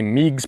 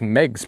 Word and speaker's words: Meigs: A lot of people say Meigs Point, but it's Meg's Point.